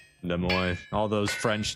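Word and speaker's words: Des Moines: Similar issues arises when pronouncing the name of the capital of Iowa. Does de mo. Yeah, de mo.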